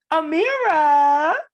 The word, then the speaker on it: Amira: lane for women that look like her so amira and make sure i'm saying it right you're